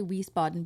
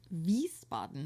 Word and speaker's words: Wiesbaden: I say Wiesbaden, but it's pronounced Wiesbaden, I believe.